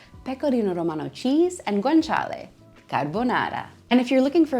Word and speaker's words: carbonara: And the most classic dish to use guanciale or pancetta is carbonara. Carbonara, not carbonara, carbonara. This Roman classic pasta is made up of eggs, pecorino romano cheese, and guanciale. Carbonara.